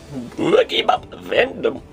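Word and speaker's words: Boogiepop Phantom: Next is Boogie Bop Vandom. You have to say it like that because that's literally how they say it. Boogie Pop Phantom, you might think this is a really weird bootleg release, isn't it?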